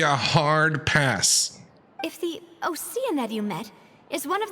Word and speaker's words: Oceanid: It's pronounced Oceanid? No way. It says ocean. It'll always be ocean to me.